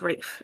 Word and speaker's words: Raph: p h is pronounced Rafe and not Raph does he pronounce it Raph uh we pronounce it Raph yeah in the server yeah okay ra Raph himself pronounces it Raph I'm surprised people pronounce